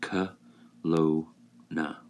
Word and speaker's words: Kelowna: Now, remember, I was born in Kelowna, which is pronounced K. Lo-na, which is like clown A.